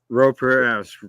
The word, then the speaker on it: Pereira: Dave, and I'm gonna mess up pronouncing his last name. Pereira. Pereira, correct.